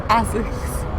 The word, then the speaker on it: ASICS: I asked you about the summer that you spent in London with ASAC Forerunner. So tell me more about that. Yeah, so did I pronounce it right? ASICS.